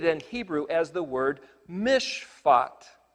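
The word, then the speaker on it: משפט: Well, the notion of the correct application of the Torah instructions is translated in Hebrew as the word mishpat. It's spelled mem, shin, pei, tet, and the word shin, pei, tet is the word for judge.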